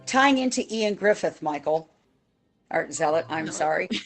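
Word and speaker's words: Ioan Gruffudd: was in Fantastic 4 and it looked like Yoan Griffid, but when you actually look at the pronunciation," I said, "It's Ian Griffith."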